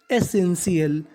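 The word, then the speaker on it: essential: टी आई ए एल अगर आपको English में कहीं पर टी आई ए एल लिखा मिले तो आपको उच्चारण करना है शियल तो मीनिंग बनी एसेंशियल एसेंशियल एसेंशियल का मतलब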